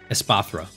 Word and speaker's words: Espathra: Espartha? I think that's how you pronounce it. Espartha? Espathra, yeah.